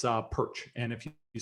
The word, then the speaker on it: Pyrcz: heard from me before, my last name is a bit of a clump of consonants, but you can pronounce it Pyrcz.